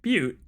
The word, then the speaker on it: Butte: I'll say it right, Butte, where Bureau agents discovered a translocative light switch cord. Bureau agents arrived at the home of a local celebrity located at Butte, not Butt, Montana, which had been connected